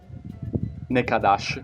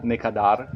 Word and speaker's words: ne kadar: Nekadash o Nekadar, ogni tanto la R alla fine la pronunciano un po' come una sh, ad esempio vuol dire quanto costa.